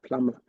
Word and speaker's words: plumber: tell them I'm a plumber yeah I said I'm a plumber p l u m b r um now if you're really educated you would say plumber because the B is silent correct or not if